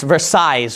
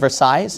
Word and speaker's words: Versailles: I think you pronounce this Versailles, right? Treaty of Versailles, is that correct?